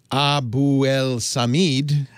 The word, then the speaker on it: Abuelsamid: No, that's the way I generally pronounce it. I guess you could say Abuelsamid. Technically that is the closer to the correct pronunciation or more accurate pronunciation. Yeah. But if you were, you would say that if you were speaking to me in Arabic, but then I wouldn't understand what you're saying anyway.